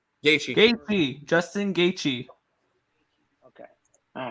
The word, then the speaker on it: Gaethje: Gaethje.